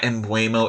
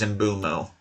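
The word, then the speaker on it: Mbeumo: But yeah, I have heard people pronounce it embuo. It is not embro. It is embumo.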